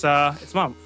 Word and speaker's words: Memph: So it's Mumph, but it's spelled Memph.